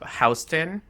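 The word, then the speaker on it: Houston: If you walk up Hston, and that's how we pronounce it here in New York.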